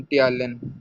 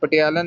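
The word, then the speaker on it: ptyalin: Primary secretion में जो जो चीज़ें रिलीज होती है ना, उनका एक तो हो गया एंजाइम टियालिन, पी पटियालन नहीं, इसको कहना टियालिन कहना, पी साइलेंट है।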